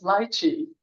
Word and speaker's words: lychee: And he said, and I said lychee nuts, and he said, that's lychee. And so I was like, oh my gosh, she was pronouncing it correctly.